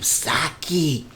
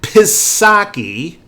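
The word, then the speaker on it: Psaki: you have jen now i mispronounce her name for a purpose i realize so don't be putting comments down there these you know these picky little oh it's the name saki stop it jen pisaki and biden white house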